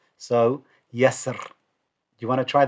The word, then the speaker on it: يسر: Now, what I've done here is I've converted the ra kasra into a ra sukun. Okay, so remove the kasra and put a sukun there. And the way that I've then pronounced the ra is an empty mouth.